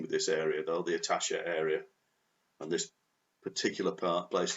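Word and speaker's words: Itatiaia: So then we head off from the midpoint of the journey to a place called Itasha. That's how you pronounce that.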